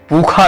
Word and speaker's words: पूषा: उच्चारण होता है, और उसका उच्चारण इधर उत्तर के वेद पाठी खा रूप में करते हैं। अगर वो इसको करेंगे तो बिखाम कहेंगे, जैसे पूखा कहते हैं पूषा को। तो ये उच्चारण पद्धति है, लेकिन हम लोग भले उत्तर भारत के हैं, लेकिन उसको मूर्धा से शा करते हैं, खा नहीं करते हैं।